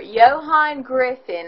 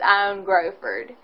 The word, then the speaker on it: Ioan Gruffudd: Ioan Gruffudd, I believe, is actually how you say his name, though if you're reading it, it's Ioan Gruffudd.